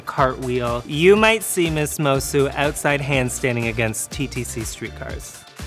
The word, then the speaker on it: Moço: my name is miss mosu my drag name is essentially my last name but the portuguese pronunciation translates to miss boy